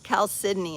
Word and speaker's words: chalcedony: Chalcedony is how it's pronounced.